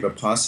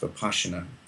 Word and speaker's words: Vipassana: I did a 10-day papasa in retreat and it's actually pronounced by passion it's a SS it sounds like an SH it's an ancient Indian